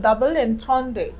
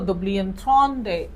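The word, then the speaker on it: double entendre: अगर इंग्लिश में बोलेंगे तो डबल एंथ्रॉन, और अगर फ्रेंच में बोलेंगे तो दुबली एंथ्रॉन।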